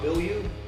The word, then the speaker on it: Bilyeu: Tom Bilyeu, right?